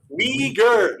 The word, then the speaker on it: Uyghur: Weeble, might say it right? Uyghur, yes.